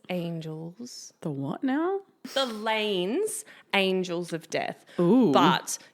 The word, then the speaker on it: Lainz: But you see, I could be pronouncing it totally wrong and it could be like Lainz Angels of Death. Okay. Loins? How's it spelled? Lainz. Oh, Lainz. I think you had it right the first time.